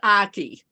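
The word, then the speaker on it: Achey: of your last name is it Aki it's Aki it rhymes with rhymes with hocky okay AI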